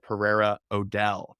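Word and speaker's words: Pereira O'Dell: because you are a senior art director at Pereira Odell did I say that did I pronounce agency correctly yes but you can call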